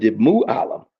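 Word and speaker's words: معلّم: Mu Alam. Mu Alam is a teacher cuz they're the ones who give the knowledge, the mu alam, the knowledger.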